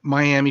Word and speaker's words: Miami: have used the the example of mam Oklahoma spelled the same way but pronounced differently miam Oklahoma versus Miami Florida point being is is